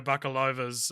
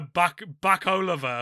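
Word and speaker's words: Bakalova: to pick for maria buccalova's uh speaking of which brad pitt butchered her name a name that i would argue is actually very easy to pronounce he said maria buck buck oliver or something i you not not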